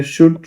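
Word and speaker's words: should: फिर है शुड। शुड में भी एल नहीं आता है।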